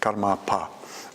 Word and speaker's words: Karmapa: to himself as Karmapa, with a long A there, Karmapa.